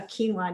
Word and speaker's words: quinoa: kind of funny the first time we had quinoa we were at a mediterranean restaurant and what i was ordering had a quinoa dish on the side and i said to